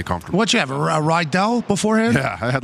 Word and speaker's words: Riddell: It's called a Rydell. The riddle. Tony, what do you call a helmet that's made by a company that's spelled Riddello? I feel like it depends on the moment. Some people sometimes may call it riddle.